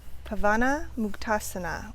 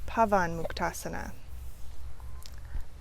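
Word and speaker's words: Pavanamuktasana: We've got Virabhadrasana 1, Virabhadrasana 2, Ika, meaning 1, Virabhadrasana 3, Pavana Muktasana or Pavan Muktasana.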